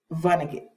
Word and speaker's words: Vonnegut: I said his name wrong. It is Vonnegut Jr.